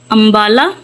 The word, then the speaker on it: امبالہ: کر تلفظ واضح کریں۔ امبالہ، تو آپ نے یوں الف کے اوپر زبر، نون پہ جزم، بے پہ زبر۔ السلام علیکم، السلام میم